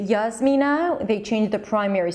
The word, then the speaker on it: Jasmina: Hey Hadar, my name is Jasmina, Yasmina, though Americans usually pronounce it as Yasmina, which is not really an issue for me, like I get it, close enough.